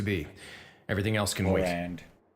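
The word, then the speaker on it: Clorinde: Clarande. I don't know how they should just replace the I with an A. Everybody would have pronounced it properly.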